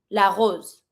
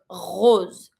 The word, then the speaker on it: rose: English and the French so in English you say rose in French from the throat rose rose that can be red or pink or white then we have the tulip.